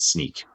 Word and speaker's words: Snyk: One of the founders said it's Snick like Wolverine sound of his claws popping. And then later it was mispronounced so many times. I believe the new urban legend is that they said screw it, and now they call it Sneak.